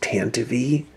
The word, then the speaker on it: Tantive: a transport or a tantive actually it's pronounced tan to v but i'm not ever